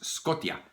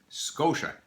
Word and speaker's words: Scotia: to notice that actually it's not pronounced scota it's pronounced Scotia you have to notice